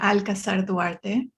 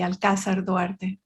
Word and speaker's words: Alcazar-Duarte: So the foreign friendly way of pronouncing it would be Alcazar-Duarte. And the Mexican. And the non-friendly? Well, the Mexican way would have accent on the second A, so it would be Alcazar-Duarte, just a little bit more vowel strong.